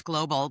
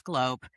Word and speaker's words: GlobeAware: A lot of times people think it's global, but it's globe, three syllables.